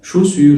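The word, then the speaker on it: chaussures: بعد كده ركز بقى على كده اهو، حذاء يعني شوسيور الاي واليو بيتنطقوا او، تبقى شوسيور والاو والاس في الاخر ما بيتنطقوش.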